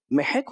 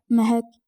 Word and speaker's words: مہک: محک ہوتا ہے یا مہک ہوتا ہے؟ مہک.